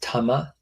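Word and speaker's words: 魂: And it's the idea that the word for soul often pronounced tama in Japanese in in classical Japanese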